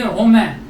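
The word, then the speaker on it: romain: पहला वर्ड हम देखते हैं ROMAEN, ओके, इसको हम बोलेंगे रोमैन, रोमैन, न पूरा नहीं प्रोनाउंस हो रहा है, नाक में प्रोनाउंस हो रहा है, तो ये हो गया रोमैन, ओके।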